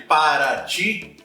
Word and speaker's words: Paraty: diretamente UTI como por exemplo na cidade de Paraty Paraty essa pronúncia do te acaba virando Tchan Como por